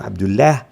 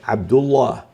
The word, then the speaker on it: عبد الله: أيضا مفخمة، عبد الله، لا نقول عبد الله بل عبد الله. إذن هو الله وعبد الله في الحالتين حالة الفتح والضم تكون لام لفظ الجلالة مفخمة، في حين أننا إن